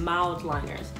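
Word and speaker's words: Mildliner: So they're pronounced mild liners for people who have been saying it wrong.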